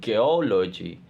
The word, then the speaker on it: geology: Stress pattern geology. Explanation, the suffix logy systematically attracts stress to the pre-suffix syllable, producing a stable and predictable stress pattern.